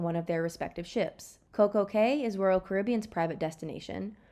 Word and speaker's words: CocoCay: to its completion it was simply known as CoCo Key however the extensive Renovations required a new name hence perfect day was added and the pronunciation of CoCo Key was changed to Coco K to rhyme with